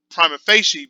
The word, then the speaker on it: prima facie: Prima facie. That's how it's pronounced, prima facie.